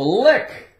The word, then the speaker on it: lick: How about the lick? Lick. L-I-C-K. The C is silent, of course.